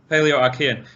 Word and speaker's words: Paleoarchean: How do I pronounce this? Paleoarchean? That's correct. Paleoarchean, yes.